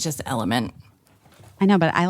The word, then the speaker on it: LMNT: I think it's just Element. I know, but I like Elementary. All right, Elementary. The product is called Element, but the it's spelled LMNT.